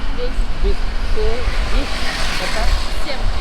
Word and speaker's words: всем: Всем. Сим.